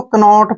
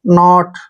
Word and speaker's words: knot: अब next word देखिए, KNOT, इसको कनॉट पढ़ते हैं, जो कि गलत है, ठीक है। और देखिए जब भी N से पहले K आएगा वहां पर K साइलेंट रखिए आप। NO को क्या पढ़ेंगे? नो, और T को टे, नॉट।